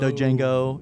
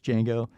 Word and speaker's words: Django: as joe because like like django unchained like that or it's like it's not dojango you know it's it's django so this is joe